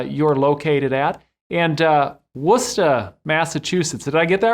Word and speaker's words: Worcester: i just learned of course uh how to pronounce the name of your city where uh you're located at and uh worcester massachusetts did i get that right that's exactly